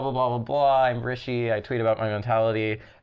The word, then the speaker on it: Rishi: And I don't think I pronounced the letter I that weirdly. It's Rishi.